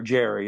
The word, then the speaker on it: Gerry: It's either Gary or Jerry. It's spelled Gerry. So I guess it could be either one.